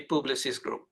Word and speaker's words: Publicis: What would be a good pronunciation for that? It would be right. It would be Publicis Group.